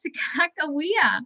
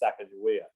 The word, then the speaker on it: Sacagawea: it wrong but i i learned to pronounce it as sacagawea but um you're probably pronouncing your your pronouncing is probably more correct than mine there's there's several ways to pronounce it and there's at least three ways to write it and clark wrote every one of them wrong i'll just say he